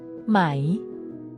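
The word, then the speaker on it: ไหม: turning statements into questions May is pronounced with a high tone in Thai tones are essential to meaning the high tone starts at a high pitch and stays High making it distinct and easy to recognize in conversation if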